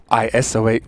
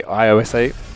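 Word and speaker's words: ISO-8: Oh my God, I said it right. ISO8. See, dudes, I know a lot of you complain that I say iOS8.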